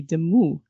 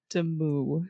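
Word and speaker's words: Demoux: But yeah, I think I stick with demu. Demo is close enough to the French, okay? It's close. Like, as long as you don't pronounce the X, you're doing it.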